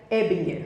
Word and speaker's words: Ebinger: Mas o meu sogro, que é o cara, dono do sobrenome, né, ele pronuncia Ebinger.